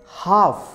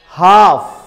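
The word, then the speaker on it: half: जैसे हाफ, हाफ. काफ. और ऐसे ही अगर लेटर एल से पहले ओ और यू आ जाए तो लेटर एल साइलेंट होता है.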